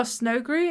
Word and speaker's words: Snowgre: Oh, Snowgree is pronounced like ogre.